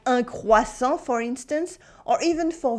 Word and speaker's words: croissant: As you can see, at the end of a word, they often come with a silent letter, like a silent T. For nouns, you have something like un croissant, for instance, or even